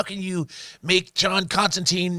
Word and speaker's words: Constantine: of the quintessential John Constantine stories by the way as you said his real name is Constantine they mispronounce it in the movie and made it Constantine to say yeah Chris